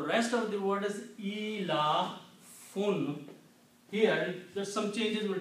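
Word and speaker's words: إيلاف: The pronunciation of these 4 combined will be ilafun.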